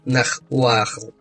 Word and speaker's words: нагваль: Нагваль произносится как Нахуахл, название, дававшееся или животному, в которое маг мог превращаться, или тому магу, который практиковал такие превращения.